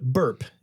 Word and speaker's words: BRP: already covered this but burp is the correct pronunciation yes yeah BRP you might